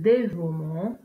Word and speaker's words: dévouement: Il s'agit généralement d'un E. Exemple, le dévouement, le maniement, le paiement. Dans ces exemples, on ne prononce pas la lettre E.